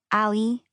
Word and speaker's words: Ali: I say it the easy gringo way, Ali, as in alley cat, alleyway, back alley.